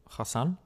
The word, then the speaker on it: Hassan: Hassan. Yeah. Which uh like try to put it in a sentence. Um if you don't you don't have to say Hassan like say under like I don't know.